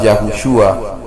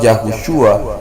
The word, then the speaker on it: Yahushua: En realidad, el mismo nombre que Yeshua, hijo de Nun, correctamente pronunciado Yahushua, es bastante evidente que la forma moderna Jesús ni siquiera se parece remotamente al nombre original que usaron los discípulos.